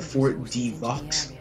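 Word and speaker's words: Fort de Vaux: The X is silent. I used to call it Fort Devaux.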